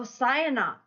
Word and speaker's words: Cyanok: Oh, Cyanok. Okay. Sayonara. Like sayonara. Yes, the one in San Diego.